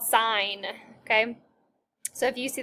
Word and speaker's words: sine: ever okay first off this is not sin it's called sine okay so if you